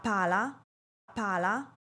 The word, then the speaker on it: pala: "L", en la palabra "pala", ¿cuál sonido debo alargar? El sonido de la "A", es decir, debo dar un mayor énfasis a la letra "A" y no a la letra "L".